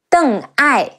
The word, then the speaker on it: Deng Ai: Ai, Huai, Guo Huai, Deng Ai, De Eng, Deng Ai, Deng Ai.